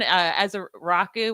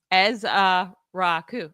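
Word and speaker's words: Ezeiruaku: Like if Donovan as a Rocku Why can't I say his name? Um I don't know. Hold on. Let me I I have it up. Eza Raku.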